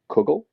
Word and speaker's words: kugel: and it's pronounced Kugel.